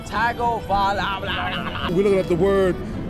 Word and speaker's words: Tagovailoa: Basically, I asked tourists, some locals, if they could say that name, Tagovailoa, and it went about as well as you expect.